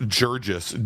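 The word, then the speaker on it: Guirguis: When he sent me his information, his last name is spelled G-U-I. Let me get this right. It's spelled G-U-I. R-G-U-I-S, and then he sent it to me. He says pronounced Jurgis, G-I-R. So I have no idea if it's Gur or if it's Jur. We're gonna go with Jurgis.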